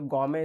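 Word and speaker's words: gourmet: तो गॉर्मेट में यहाँ टी साइलेंट होता है, तो गॉमे इसको पढ़ेंगे।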